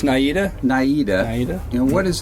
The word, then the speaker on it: Naida: Did I pronounce that name right? It's Naida.